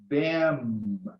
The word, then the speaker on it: them: Again, them. Final M. If you don't close your lips, you pronounce then, which is a connector used to connect a sequence of events.